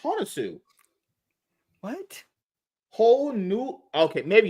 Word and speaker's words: Hounsou: It's pronounced Hounsou.